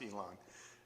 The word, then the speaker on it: Yilan: that they think elon musk you know it's pronounced elon elon is a county in taiwan it's on